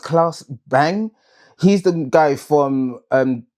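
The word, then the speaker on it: Claes Bang: um CL I think his name is pronounced Klaus Bang.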